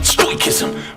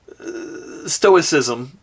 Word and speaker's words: stoicism: Listen to an audio book to learn all about stoism. Realize he's saying stoicism. Stoicism is, I believe, how it's pronounced.